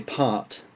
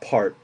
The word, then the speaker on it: part: With my accent, I say part. You can hardly hear the R at all. It's not really pronounced.